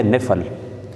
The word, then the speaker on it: نفل: وہ نفل کہلاتا ہے، اور صحیح جو تلفظ ہے وہ ہے نفل۔ بہرحال ہم نفل کہتے ہیں، اس سے معنی